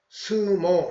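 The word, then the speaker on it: 相撲: 그래서 이것을 일본식으로 읽으면 쇼보 이렇게 읽을 수 있는데 이것이 오랫동안 관용적으로 쓰이다 보니까 단순화돼서 스모 이렇게 됐다. 그래서 상박을 일본식으로 발음하면 음으로 읽어서 관용화된 스모다.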